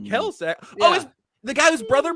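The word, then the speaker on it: Kelce: I think it's pronounced Kelsey.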